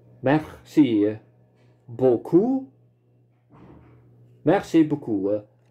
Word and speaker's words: beaucoup: Verschillende klanken in het Frans, waaronder de EAU geluid, spreken we uit als O. En hier in het woord beaucoup is de laatste letter P wordt niet uitgesproken.